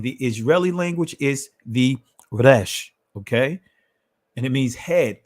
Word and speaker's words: resh: is the ancient hebrew this is the rash and the israeli language is pronounced right and this is it over on the side here i don't have the connector here but it's rash right and then when we see over here we see that it means head top rank beginning then we see the numerical value is 200. so again in the israeli language is resh and it means head